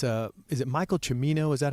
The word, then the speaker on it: Michael Cimino: great commentary it's um it's a is it Michael cimmino is that how you say his name yeah